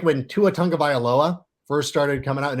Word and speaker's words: Tagovailoa: You're always like, oh yeah, Tagovailoa does this and that.